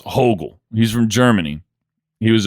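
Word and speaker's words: Högel: This guy Niles Hogel, I believe is how you pronounce his name. Like Hogel. Niles Hogel.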